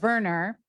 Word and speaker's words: Werner: Tuesday, September 28th, we have orientation at Bob, and Tony and I learned that the correct pronunciation of his name is Werner.